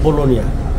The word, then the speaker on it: Bologna: আমরা আমরা উচ্চারণ করি, কিন্তু অরিজিনাল উচ্চারণ হচ্ছে বোলোনিয়া।